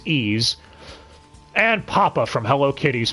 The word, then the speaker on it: Ys: OVA or Ys and yes it is pronounced ease and papa from Hello